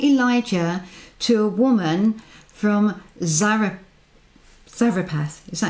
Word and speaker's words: Zarephath: because he sent Elijah to a woman from Zarephath. Is that how you pronounce it? It is. Well done. Zarephath.